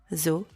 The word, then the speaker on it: aux: Use O with a silent X at the end if the name of the place is plural. Je vais aux toilettes. Je suis aux toilettes.